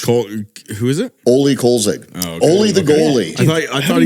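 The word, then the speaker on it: Kölzig: as a Coach Co who is it oie kig oie the goalie I not know who is he doesn't know I thought he said Kar I was like K it's not Andre Kopitar bro it's oie kig just think of only the goalie the goalie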